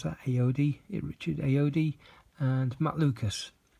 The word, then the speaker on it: Ayoade: And you've got Richard, how do you pronounce that? Ayoade, Richard Ayoade, and Matt Lucas.